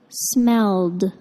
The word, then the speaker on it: smelled: in it smelled bad the ed verb ending sounds like a d smelled and when i say